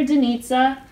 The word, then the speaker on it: Denitza: If it wasn't for Denitza, rhymes with pizza, initiating our GroupMe that